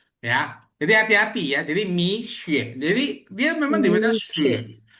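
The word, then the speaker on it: 蜜雪: Sebenarnya itu diambil dari kata mi dan xue, butiran salju, ya. Jadi dibacanya itu sebenarnya mi xue. Betul. Ya, jadi dibacanya misye sebenarnya. Jadi bukan miksu, apalagi misue. Salah sebenarnya. Tapi dibaca misye. Kenapa? Karena itu vokal U. Ya, vokal U, bukan vokal U seperti itu. Ya, apa?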